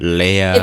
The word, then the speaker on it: Lehrer: Is it Lehrer, It's Leah, like a bunch of silent letters. It's Lehrer, and you Lehr? just swallow it in single syllable.